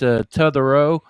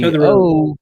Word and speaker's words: Totherow: It's Totherow. The Totherow. the T-O is pronounced more like T-U. So it's Totherow.